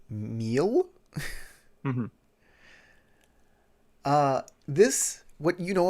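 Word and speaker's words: Miel: lead you to the temple of meal m-i-e-l oh great sorry uh i believe that is pronounced meal uh this what you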